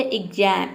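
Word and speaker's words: exam: लेकिन अगर एक्स के बाद वोवेल आ जाए वर्ड के बीच में तो वहां पे एक्स को हम आधा ग और ज प्रोनाउंस करेंगे।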